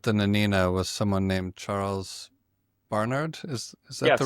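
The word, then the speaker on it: Charles Barnard: So the captain of the Nenina was someone named Charles Barard. Is is that the right pronunciation? Charles Barard.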